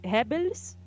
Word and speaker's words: Goebbels: We say Hebels. They say just Goebbels.